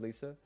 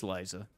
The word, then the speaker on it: Liza: call always call it Lisa like Mona Lisa yeah didn't know it was Liza yeah it's it's weird but that's actually how you say her name it's it's Liza which I know doesn't